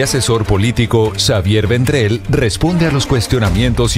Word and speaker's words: Xavier: No Javier. No, Xavier. Xavier.